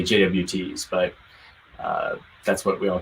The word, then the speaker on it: JWT: Yeah, Kelsey mentioned in the chat that they're pronounced JOTs. That took me a little while to get used to too, because I used to say JWTs, but that's what we all call them internally.